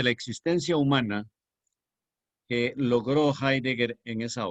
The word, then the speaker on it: Heidegger: no se pronuncia la pongo en alemán se pronuncia ahí entonces heidegger posiblemente fue el más célebre filósofo del siglo